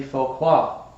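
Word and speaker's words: Phaquad: They are known as the Foquad.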